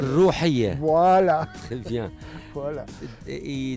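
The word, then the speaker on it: Rouhia: Alors, je prononce mal le mot Roya. Oui. Je le signale, c'est R-O-H-I-A. Et en arabe, j'arrive pas à le dire. Rouhiya.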